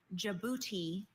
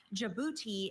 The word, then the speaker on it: Djibouti: Your word is Djibouti. Uh, can you give me the definition please? Djibouti is a country of eastern Africa on Bob